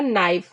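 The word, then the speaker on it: knife: हथेली palm means हथेली यहां पे के आई के आई या फी में के वर्ड साइलेंट हो जाएगा नाइफ नाइफ का मतलब होता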